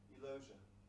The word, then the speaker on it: Elosia: Elosia. Rhymes with closure.